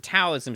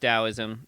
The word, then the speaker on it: Taoism: Uh it is technically pronounced Dowoism. Um there are actually to make things easier on white people, there are some people who now spell Dowism with a D.